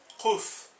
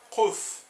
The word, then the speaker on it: Kuf: E quando é esse Q no aramaico, a gente abre a boca, ó. Kuf, Kuf. Você consegue perceber que o som ele não sai igual na frente da boca, igual o K, ó. K, K, né? Ele sai mais aqui, a gente constrói mais no fundo da boca.